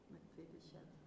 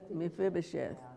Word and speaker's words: Mephibosheth: Mephibosheth.